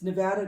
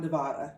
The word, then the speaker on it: Nevada: sticker that people buy, that it's Nevada, not Nevada.